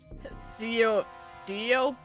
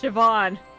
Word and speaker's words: Siobhan: Seopan. It's pronounced Siobhan.